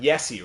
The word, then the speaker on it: Jesse: My name's Jesse, but Yessie, right? Pronounced the same way as you do for Juha.